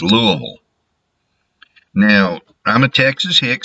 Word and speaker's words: Louisville: And for y'all who aren't sure, that's how you pronounce it. It is not Louisville. It is not Louisville. It's Louisville.